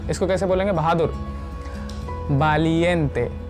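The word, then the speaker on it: valiente: अगला है करीजियस, है ना, इसको कैसे बोलेंगे, बहादुर, वालिएंटे। वी को बा से प्रोनाउंस करेंगे, वालिएंटे, वालिएंटे, वालिएंटे।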